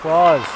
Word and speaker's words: Claus: couldn't pull the trigger annalize claws yes like spelled and pronounced like Santa Claus who's looking for a